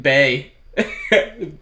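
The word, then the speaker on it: Bei: She named it Bay. Bebe. She went to... It's spelled B-E-I, though.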